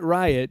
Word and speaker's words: Ryutt: On the planet Riot, but it's spelled Ryutt.